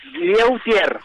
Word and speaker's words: Lieutier: Pronuncié bien tu apellido, perdóname. No, es Lieutier.